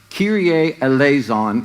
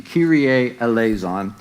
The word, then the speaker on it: Kyrie eleison: we'll be fine um so Kyrie eleison is the pronunciation Kyrie eleison so I'm simply going